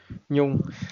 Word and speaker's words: Nhung: And My name is Nyong. Yeah. N Hung. Yeah. I I I don't know how to eat um pronounce this.